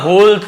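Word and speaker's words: whole: तो ये WH है ना, OLE, ये वाला होल का यूज किया जाएगा। W साइलेंट रहता है, केवल होल पढ़ेंगे, लेकिन लिखेंगे जरूर।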